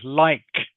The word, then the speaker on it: like: Another word of course we practice last week is like. Okay. I like ice cream. Okay. Must remember to have the K sound in like pronounced very clearly like.